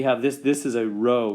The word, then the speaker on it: rho: um row and and meaning it's a greek r pronounced row so why i'm even